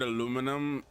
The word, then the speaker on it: aluminum: I pronounce the word aluminum depends on whether my Guyanese American accent decides whether it wants to come out. Like, sometimes I'll say aluminium, and then sometimes I'll say aluminum.